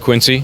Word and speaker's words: Quincy: So, so you know it's it's really pronounced Quincy.